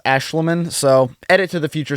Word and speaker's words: Aeshliman: So apparently his name is pronounced Aeshliman, so edit to the future self in case I pronounced that wrong.